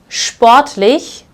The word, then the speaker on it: sportlich: So if you find this combination at the beginning of the word or the syllable, you will pronounce this as sp. So here I have sportlich, which means sporty.